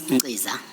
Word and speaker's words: Ngqiza: My name is Ngqiza. Please. It's pronounced with a silent K. Oh, with a K. No, it's silent K. Oh. The K is not written. Oh. K is not written. It's phonetic.